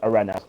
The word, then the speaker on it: Arenas: That's how you say it, by the way, Matt, in Spanish, Arenas.